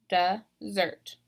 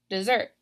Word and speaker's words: desert: look compare this so this is desert this is the dirt so I'm stressing that second syllable desert desert ok now you might think oh that's like the desert that you eat no this is the action desert desert I'm deserting my